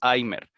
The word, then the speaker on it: Alzheimer: desde la misma forma en el caso del apellido alzheimer la h más o menos como los anglosajones pues la pronuncian como nosotros sería una jota no tan fuerte ni tan arrastrada pero más o menos porque tampoco es así geimer si se tiene que